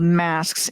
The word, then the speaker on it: masque: And then there were early plays called masques, MASQUE, it's spelled like mask, that were form of courtly entertainment that were performed for kings and queens in their court.